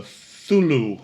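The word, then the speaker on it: Cthulhu: Now, the builder said that there was a statue of the Thulu. Thulu. Kim's gonna spell it out for me.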